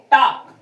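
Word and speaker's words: talk: इसमें एल जो है वो साइलेंट है। टॉक ही पढ़ा जाता है। इस प्रकार से इसको टाक ही पढ़ते हैं।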